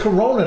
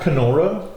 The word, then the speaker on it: Corona: But it's Corona, not Kenora.